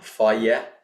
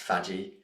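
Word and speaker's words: Fage: My choice here is Faye, or Faye. That's how it's pronounced, not pronounced Faggy.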